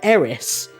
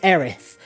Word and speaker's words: Aerith: So I always called her Eris, but her name is Aerith, and it is confirmed in the remake, which I've also played,